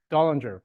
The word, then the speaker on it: Dullinger: We got, is it Dullinger or Dillinger? I don't know how to pronounce her last name. Dullinger, okay.